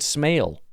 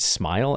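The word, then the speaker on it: Smael: are probably wrong, but it is Smile. I actually went and found people saying his name on YouTube because I refuse to believe it, but it's a good name. And I will say, usually I look at stuff like this and I'm like, why don't you just spell it Smile? Because everyone's going to be calling your kid Smale.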